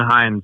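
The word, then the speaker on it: Heinz: It's Vince and Hines, but spelled like the ketchup.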